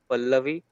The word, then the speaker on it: Pallavi: You should pronounce her like Pallavi.